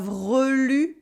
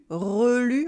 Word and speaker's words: relu: Here we have relu, relu, okay, read again. It's different from relou that we just saw before. Vous avez relu jusqu'au bout.